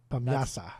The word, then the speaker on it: Bamyasi: We're doing can um eay bimyasi eay eay bamyasa bamyasa that's how you're supposed to pronounce it uh we are Turkish now but